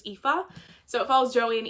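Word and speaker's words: Aoife: follows Joey and O I almost said AO that's how I used to pronounce her name until I realized it was epha so it follows Joey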